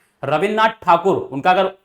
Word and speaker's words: ठाकुर: नाथ ठाकुर होते थे अंग्रेज लोग बच्चों ना ठाकुर नहीं बोल पाते थे वो टैगोर बोलते थे ठाकोर बोलते थे तो इसी वजह से क्या है प्रोनाउंस भी बच्चों क्या है ऐसा ही हो गया टैगोर हो गया और जो रविंद्रनाथ ठाकुर वो टैगोर जिनको हम बोलते हैं वो वास्तव में टैगोर नहीं है वो ठाकुर थे रविंद्रनाथ ठाकुर उनका